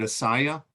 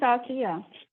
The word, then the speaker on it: Asia: Is it Asaya or Asia? Yeah. Yeah, it is Asia.